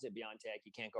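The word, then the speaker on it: BioNTech: saw the little mystery in my brain greg beyond tech that's how you pronounce it you know they're different ways of pronouncing it even internally they're pronounced differently but yes that's why i pronounce it beyond tech you can't go wrong that way it's like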